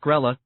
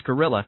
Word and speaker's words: Grell: In high school, Grell, pronounced Grella, or sometimes Gorilla, had been the fastest